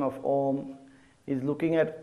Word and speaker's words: Om: The second part of the Omkar on correct pronunciation is when you are saying Om, at the start, the shape of your mouth should be a big O.